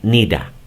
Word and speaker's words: need to: Cuando el need se contrae con el to, queda o se pronuncia de la siguiente manera. Nida.